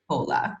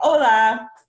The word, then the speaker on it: hola: and so yeah it means hello it's not pronounced Ola which is very HSN Spanish art completely silent so we want to make sure that we say hola so another one when you're gonna be meeting